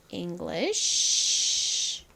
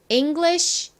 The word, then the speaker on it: English: English conversation. English conversation. 좋습니다. 여기 이가 이 소리가 나고 ng는 이응 받침으로 들어가죠. 그리고 ng의 이 g가 뒤에 있는 l과 한 번 더 붙어서 발음이 납니다.